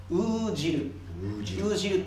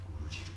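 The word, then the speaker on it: 男弦: 男の弦、男の鶴と書いてウージルと言います、ウージル、太い弦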